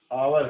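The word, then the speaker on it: hour: तो यहाँ पे तीनों जगह पे जो एच है वो साइलेंट है और साउंड जो है ओ की है सभी जगह पे।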